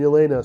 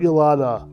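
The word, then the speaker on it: Yelena: And of course, he recruited John Walker and Yolena. So that's it. So we see Yolanda once again played by Fors Florence Pug. It's Yolena, not Yolanda.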